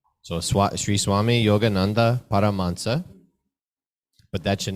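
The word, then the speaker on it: Paramahansa: stop here's another word it's written as parama Hansa Yogananda but it's actually pronounced as paramhansa yeah okay so SRI Swami yoga Nanda paramansa but that should not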